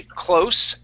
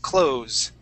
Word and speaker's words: close: Okay, close and close, all right? So when we close with a Z sound, I'm closing the door, okay?